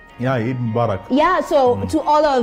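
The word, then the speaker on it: Eid Mubarak: ID Mubarak is that what you say yeah ID Mubarak yeah so to all our viewers thank you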